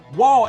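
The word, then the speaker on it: וו: WaW is a labial spirant, identical in sound with the English W or W.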